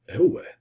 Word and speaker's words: Euwe: van Gilda and Max el el is a Dutch way of pronouncing Max's surname so I was told